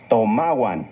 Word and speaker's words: tomahuan: Recuerda que en el náhuatl las palabras se acentúan en la penúltima sílaba. Tomahuan.